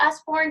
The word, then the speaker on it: Usborne: Is it Usborne? Do I say it right? Yeah, that's how you say it.